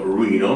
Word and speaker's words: Reno: sposati nella città di che loro pronunciano Ruino Ma è scritto Reno Ruino nel Nevada Allora